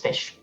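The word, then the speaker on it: ghoti: Well, it's like cough.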